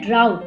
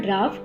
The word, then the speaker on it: drought: Meanwhile, there was a severe drought. It is not drought, it is drought.